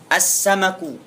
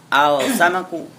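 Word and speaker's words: السمك: bunga tiib assabi Sin assamaku tidak boleh dibaca alsamaku Apa arti assamak Ik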